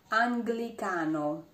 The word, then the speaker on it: Anglicano: And sometimes is pronounced gl, even when it's followed by the vowel E. But in this case, there's an N before the letter G. For example, Anglicano.